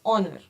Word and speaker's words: honor: it is honor right so this O is a vvel so we use it as an it was an honor meeting you we never say it as honor no it is honor okay so now you